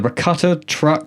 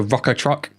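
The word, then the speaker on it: Rukkatrukk: The Rakuta truck. I'll help you. The the rocker truck.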